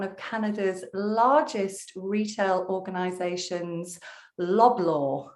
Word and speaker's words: Loblaw: Canada's largest retail organizations, Loblaw. Have I pronounced that one correctly? Yeah, it's Loblaw Companies Limited.